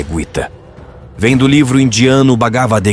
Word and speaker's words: Gita: A pronúncia correta é Guita.